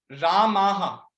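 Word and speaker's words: रामाः: लेकिन यदि मान लीजिए रामाह, ठीक है, राम जो है वर्ड, उसका प्लूरल बहुवचन में हम लोग बोलेंगे रामाहा, वैसा।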